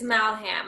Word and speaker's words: Malham: It's Malham. I think of like Mal, like Mallory or angry, and then ham.